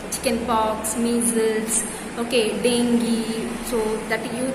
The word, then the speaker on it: dengue: like chickenpox measles okay dengue so that you that's not called as jing that is dengue dengue that's pronounced as dengue okay which which is